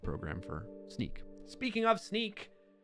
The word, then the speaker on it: Snyk: Speaking of Sneak, how could I forget? I just want to shout out to the company I work for. It's SNYK. Sneak is how we pronounce it.